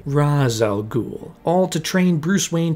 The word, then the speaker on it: Ra's al Ghul: than Ra's al Ghul, or as it's pronounced in this movie, Ra's al Ghul, all to train Bruce